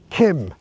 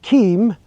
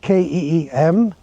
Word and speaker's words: Keem: Island, the correct name for this place is Keem. A lot of people call it Keem because it's spelled K-E-E-M, but the actual correct pronunciation is Keem.